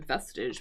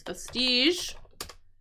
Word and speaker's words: vestige: I was thinking vestigage, but it's vestige. Vestige of something. H. And if something has a vestige of something, it has a very very very small part to something. So vestige, the pronunciation, vestige, it doesn't look like it, but that's what that is.